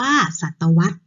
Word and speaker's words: ศตวรรษ: เวลา 100 ปี คือ คำ ว่า ศตวรรษ ออก เสียง ว่า ศตวรรษ คัน ที่ 3 นะ